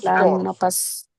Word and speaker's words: l'anno scorso: pasado se dice l'anno L'anno scorso. scorso. L'anno ¿Lano qué? scorso. L'anno Scorso. scorso, el año pasado. L'anno scorso. Pero debe marcarse bien. Primero, el apóstrofe no existe. Y la doble N, l'anno scorso.